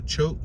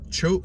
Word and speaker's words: Choate: it's C-H-O-A-T, like Choat, but I believe the A is silent, so Choate Stand, and in along